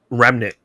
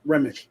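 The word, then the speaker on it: Remmick: Um I think just Remnik. Is it Remnick? That's how you say his name. No, Remick.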